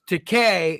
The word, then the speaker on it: Takei: people and says yeah it's Decay it rhymes with toupee it right maybe he